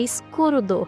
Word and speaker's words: Skuld: de propósito, já que Skuld, na pronúncia japonesa mais ou menos, é escurudo, que se parece muito com a gente falando escudo, ainda mais quando a gente